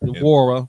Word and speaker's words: Nwora: To the Indiana Pacers for Bruce Brown, Jordan Norwood, Nwora. You don't. The N is silent. Hey, what? You called him Brandy, bro. His name, he ain't a Norwood. Jordan Nwora.